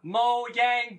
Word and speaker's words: Mojang: Mo they're Mojang but that was that was the moyang brand director that said that yeah yeah that's true and the thing is I think it's because they're Swedish so they just pronounce things differently and we've all been pronouncing it the wrong from the beginning because of it but